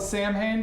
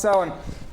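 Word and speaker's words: Samhain: looks like it's spelled Sam Hayne but actually it's pronounced sin uh those Gaelic pronunciations can be can be a toughy uh and and uh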